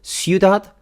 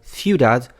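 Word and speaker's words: ciudad: That is because the combination of c and i is pronounced differently depending on where the Spanish speaker comes from or in my case where the person learned Spanish. So sudad with an s sound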